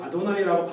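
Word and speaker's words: אֲדֹנָי: 근데 이게 아라고 하는 거 약간 어에 가까워요. 발음이. 이렇게. 그래서 여기다가 요 단어가 나오면 아도나이라고 발음을 하자라고 해놓고서는 모음 표기를 자음을 이렇게 써놓고 이 모음을 써놓은 거예요.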